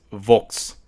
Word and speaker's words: fox: the West Saxon dialect this can be pronounced as votes because we find out